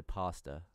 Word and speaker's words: pasta: It doesn't have an R in it, so I wouldn't say pasta. There's no R in pasta.